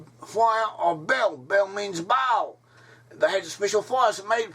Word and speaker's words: Baal: Bel is how the Assyrians and the Babylonians pronounce the name Baal. Bel is another name, another form of the name Baal.